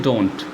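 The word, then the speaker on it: debt: इसमें बी जो है वो हम साइलेंट रखते हैं, खाली डेट बोलते हैं।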